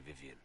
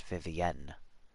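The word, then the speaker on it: Vivienne: Orlesian tells me that it should be pronounced Vivian with the emphasis on the ENT she's not just Vivian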